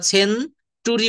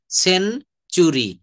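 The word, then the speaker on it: century: এন টি ইউ আর ওয়াই এটা কিন্তু আমরা সেন টুরি বলবো না। এই যে শব্দের শব্দের টি থাকলে আর টি এর পরে যদি একটা ইউ থাকে তো এই টি এর উচ্চারণ চ এর মত হয়ে যায়। সেন চুরি ফার নিটার বলি না কিন্তু ফার নিচ চার।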